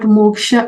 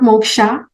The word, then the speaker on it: moksh: must be knowing what moksha is. Okay, it's usually not moksha. Okay, yeah, how we spell it in English, it's actually moksh.